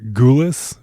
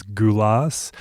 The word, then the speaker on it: Gulas: is about Nick Gulas which may be pronounced as Nick Gulas based on every recording I've heard though throughout the episode I refer to him as GU loss this is because uh